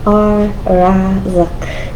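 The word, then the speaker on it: الرزاق: Okay, this is a special one cuz this is a sun letter. Okay. Raak. And why? It's Why is this right? Cuz it sounds like ra. We're using our um our lips. Ra. You can kind of do it without moving your tongue.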